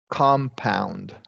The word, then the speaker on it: compound: interesting word right because it functions as a noun here and that's going to be we're going to stress the first syllable and give it a short o compound and then the verb compound we're going to stress that second syllable and give this a